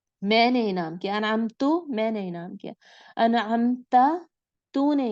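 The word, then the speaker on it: أنعمت: अनअमता इनाम किया तूने, ता ज़बर ता को आपने याद रखना है।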